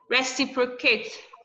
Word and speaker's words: reciprocate: Reciprocate. Reciprocate. Reciprocate. You say if it's ending with ATE, stress the word, the third syllable to the.